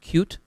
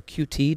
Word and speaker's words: Qt: main competitor in my mind is something called cute or QT depending on which way you want to pronounce it um both are good I'm not